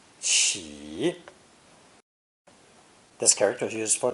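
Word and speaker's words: 乞: It's pronounced third tone, qi, qi.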